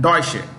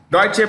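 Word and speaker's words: Deutsche: lard deche Bank how do you say that deche oh D deutche bank one of the world's largest banks this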